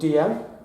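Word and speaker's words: Dalziel: They're called DL. It's spelled Dal-Z-L, but they're called DL because I'm not pretentious or something.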